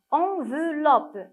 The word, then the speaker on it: enveloppe: Enveloppe. Quand je dis enveloppe, est-ce que je prononce le son E? Oui, on le prononce, on l'entend, donc on doit entourer.